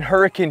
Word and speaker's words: Hurricane: Rock Golf Course in Hurricane Utah why did you just say hurricane like that Hurricane's how the locals say it Gary Copper Rock opened